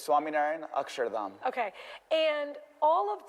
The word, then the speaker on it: Swaminarayan: The proper name, you'll pronounce it for me, is Yes, it's Swami Narian Asharam.